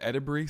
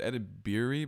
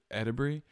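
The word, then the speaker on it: Edebiri: earlier it's IO and she said edur some people said edir but she says edur IO EDI so shout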